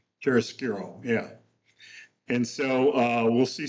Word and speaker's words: chiaroscuro: It's called, how do you pronounce it? Nick Chiaroscuro, right? Chiaroscuro, yeah.